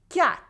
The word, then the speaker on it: quatre: Then we have 4, 4. In 4, the Q and U only make the sound que.